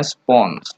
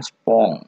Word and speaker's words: spons: Bacanya spons, bukan spong.